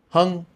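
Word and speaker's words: Hùng: Hung. Again, just like hung in English, but match my tone.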